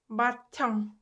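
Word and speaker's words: 맏형: But that is not true. It's pronounced 바청, 바청, 바청, 바청.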